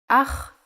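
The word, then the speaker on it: אח: than the handwriting version ah is a brother in Hebrew aha the pronunciation is important try to pronounce it more glottal e from your throat hava is a farm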